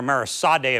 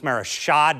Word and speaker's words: Mara Sadè: My apologies to Mara calling her Marisade a few times. It's Maris Shade. It's spelled S A D but pronounced Shade.